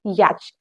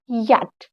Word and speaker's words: yacht: याच। बट ये है गलत। इसमें हमारा CH साइलेंट होता है, इसको हम बोलते हैं याट।